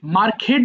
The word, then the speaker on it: market: মার্কেট বলি না, মার্কেট, রকেট, pocket, অর্থাৎ শব্দের শেষে কে ই টি থাকলে এটা খিট হয়ে যায়, এটা মার্কিট হয়ে যায়।